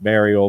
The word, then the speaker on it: Myrgjol: this character I named Mariel which it's it's pronounced Mariel but it's spelled m y r g j